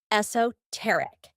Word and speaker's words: esoteric: In British English, the most common is esoteric, though you'll also hear esoteric.